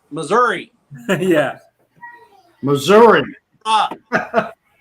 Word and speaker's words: Missouri: Missouri. Ah, it's pronounced with an A.